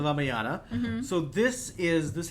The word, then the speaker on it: Ramayana: copy my annotated version Let me just correct you on that uh actually pronunciation yeah so the one you heard about was called the raaya the ramayana mhm so this is